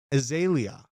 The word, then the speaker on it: Azalea: where I have to figure out how to pronounce Iggy Azalea's name correctly. What is her name? Is it Azalea? Azalea.